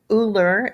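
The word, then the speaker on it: Euler: the natural base e and uh leonard you uhler is how you pronounce his last name it's danish who lived in 1707 to 1783.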